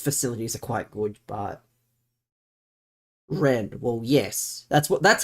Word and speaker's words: Rennes: It's spelt like it's either, I think it's Rennes or it's like Rennais, but it's pronounced Ren because it's French.